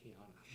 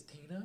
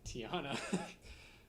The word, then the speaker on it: Tiana: honor tiana that's how you that's how it's pronounced tiana did you did you seriously rate it as tina yeah goddamn tiana uh based on princess of the frog it's